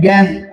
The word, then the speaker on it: জ্ঞান: তারপরে দেখেন, শব্দের প্রথমে যদি জয়েও থাকে তাহলে তার উচ্চারণ হয় গয়ে জফলা, তার উচ্চারণ হয় গয়ে জফলা চন্দ্রবিন্দু।